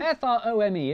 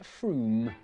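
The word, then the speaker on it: Frome: on your train from wrong it's not from f-r-o-m-e it should be blitheringly obvious it's pronounced froome and if you did say from don't worry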